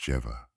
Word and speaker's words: Jehovah: by the letter yod when Jehovah should be pronounced jeeva and this point takes